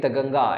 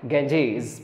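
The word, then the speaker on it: Ganges: গঙ্গা নদী লেখা যাক নদী যখন ইংলিশে প্রোনাউন্সিয়েশন করবে তখন সেক্ষেত্রে আমরা যদিও নেটিভ ল্যাঙ্গুয়েজ অনুযায়ী গঙ্গা এরকম ভাবে বলতে পারি কিন্তু যদি ইংলিশ টার্ম অনুযায়ী যাই তাহলে গ্যাঞ্জেস প্রোনাউন্সিয়েশন টা করতে হবে তো গাঞ্জি গাঞ্জি হিমালয়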